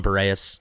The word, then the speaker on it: Boreas: I've settled on Boreas.